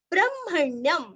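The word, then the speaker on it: ब्रह्मण्यम्: आगे ब्रह्मण्यं सर्वधर्मज्ञं लोकानां कीर्तिवर्धनं लोकनाथं महद्भूतं सर्वभूतभवोद्भवं ब्रह्मण्यम ब्रह्म हल्का सा ह का उच्चार करके म का करना है। ब्रह्म अरण्यकाण्य और अनुस्वार का उच्चारण आधा म ब्रह्मण्यम सर्वधर्मज्ञम अथवा ल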